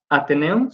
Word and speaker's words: Ateneum: Fue fundador del Octeto Guitarte y del grupo Ateneum, ¿sí se pronuncia así, maestro?